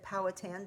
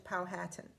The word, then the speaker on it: Powhatan: i was growing up we always said powhatan but we've heard lately that the powhatan people prefer the pronunciation powhatan so that's what i'm